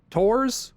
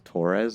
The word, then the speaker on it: Torres: Tors, Ward, and the others are probably dead. Camping here, grateful to be alive for now. Did you just pronounce Torres as Tors?